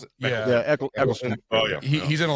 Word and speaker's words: Eccleston: that how you pronounce it? Yeah, Eccleston.